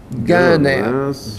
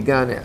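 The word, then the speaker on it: Gienapp: And the man that wrote this article, I can't pronounce his name. His name is Emmett Guineap, G-I-E-N-A-P-P, Guineap.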